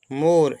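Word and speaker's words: more: away मतलब होता दूर मोर एम ओ आर मोर और ई साइलेंट होगा मोर मोर माने होता अधिक नेक्स्ट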